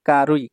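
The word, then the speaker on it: 軽い: 8 তারপর 18 নাম্বার কাঞ্চিতে দেখুন এটা হচ্ছে কারুই কারুই মানে হালকা বা পাতলা এই যে কারুই জাপানিজ উচ্চারণ আর কেই বা খেই এটা হচ্ছে সাইনিজ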